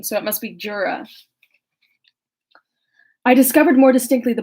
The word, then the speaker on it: Jura: I discovered more distinctly the black sides of, I want to say Juara, but that would be that's like a Spanish pronunciation, so it must be Jura.